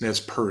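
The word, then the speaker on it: Nez Perce: NES P tribe um I think it's NES Pur is the way they pronounce it that's a tribe up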